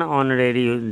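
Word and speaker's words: honorary: ऑनरेरी जॉब, इसमें एन लगेगा क्योंकि उसका उच्चारण ऑनरेरी जॉब होता है।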